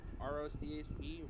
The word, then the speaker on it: Roche: for this show is Nick roach I think that's how you pronounce it r-o-c-h-e Roche by the way he